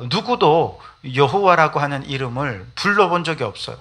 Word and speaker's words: 여호와: 하는데 발음을 못하잖아요 그래서 아도나이 하는이 단어에서 모음만 가지고 와가지고 발음해 보니 여호와 혹은 야회 뭐 이렇게 이름을 부르게 되었다는 것이죠 이게 정확한 이름인지도